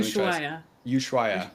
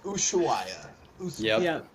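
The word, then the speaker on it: Ushuaia: Usuaya.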